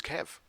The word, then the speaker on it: KEV: exploited vulnerability list and you must pronounce the k or else it doesn't make any sense isn't the K always